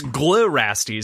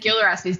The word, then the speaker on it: Glirastes: But it's Glirastes because it's GLI, not GIL. And I got brutally eviscerated for pronouncing it wrong for 10 episodes. But then I said Gilrastes, didn't I?